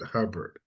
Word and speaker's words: Hubbard: Again, this here is my great-grandfather, Hubbard Campbell, and they spelled it this time the way that we pronounce it, Hubbard.